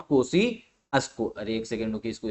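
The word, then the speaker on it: Kosciuszko: है ये है आपका माउंट कोसी अस्को ठीक है ऐसे प्रोनाउंस करते हैं माउंट कोसी अस्को अरे एक सेकंड रुके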